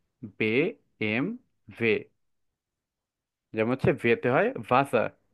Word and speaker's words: BMW: জার্মানরা তাদের নিজেদের এই গাড়িটাকে বলে বেম ভে বে এম ভে যেমন হচ্ছে ভেতে হয় ভাসা ভাসার অর্থ ওয়াটার